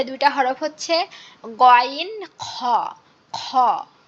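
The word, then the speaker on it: خ: সে 2টা হরফ হচ্ছে গইন খ। খ খ, আমাদের যেমন কাশি লাগে, যেমন খ খক খক করি, এভাবে আমাদের এটা উচ্চারণ করতে হবে গইন খ, গইন খ।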